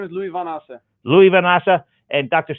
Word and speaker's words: Lowie Van Assche: How do you pronounce your last name? My name is Lowie Van Assche.